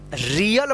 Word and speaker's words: real: Gear, REAL, रियल पढ़ेंगे इसको, रील मत पढ़िएगा।